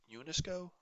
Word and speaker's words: UNESCO: forms of abbreviations but the way i'm saying this unesco that's an acronym if i said un-east u-n-e-s-c-o that would make it an initialism but i'm pronouncing it as an acronym oh go back go